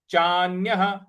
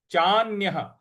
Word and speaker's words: चान्यः: तथैव चान्यः, चान्यः, चा के बाद जो न है उस पर हमको आघात देना है, और य के बाद जो विसर्ग है उसके आगे कुछ नहीं लिखा है, इसलिए उसका उच्चारण हमको ह ले आना है।